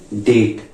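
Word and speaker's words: debt: टी से पहले भी बोले द तो देखिए डेट ठीक है डेट डेट करें डेट यानी बी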